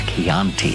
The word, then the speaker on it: Chianti: The problem was he mispronounced Chianti. It's Chianti, and it bothered me all the way.